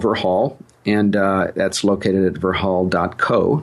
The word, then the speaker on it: Verhaal: company, which I called Verhaal. And Verhaal, I'll tell just a little bit of story about that. Verhaal is a Dutch word. It's spelled Verhaal, and it means story in Dutch.